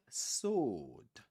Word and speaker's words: sword: We don't pronounce it. We say sword. Sword. We don't say we don't say sword.